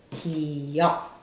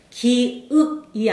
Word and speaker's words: 기역: 기, 기역, 기역입니다. 기읍이 아니고 기억도 아니고 기역. 반드시 기억을 하셔야 돼요. 기읍이 아니라 기역이다.